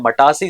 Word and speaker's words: मटासी: वैसे हिंदी का प्रोनाउंसिएशन है मटासी सॉइल, लेकिन हम मतासी से याद रख सकते हैं, जरूरी होती है माता।